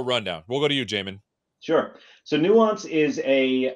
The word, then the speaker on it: Jamin: don't you introduce yourself we'll start with you Jamin did I say it right you did and that's a 50 50 shot so you did pretty good uh my name is Jamin and I am a product manager at Nuance